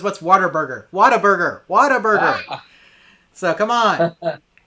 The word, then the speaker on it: Whataburger: whataburger so come on so i said it right i said it right down yeah but a lot of people just say whataburger around here you know yeah water burger whataburger that's that is a texas tradition right there exactly so although it's